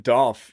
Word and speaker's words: Dolph: Dolph rhymes with golf.